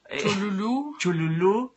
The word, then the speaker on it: Cthulhu: Y cada quien la pronuncia a su modo. Ahí dicen Cthulhu, Cthulhu, Cthulhu... Chululú, Chulhu, como si fuera maya.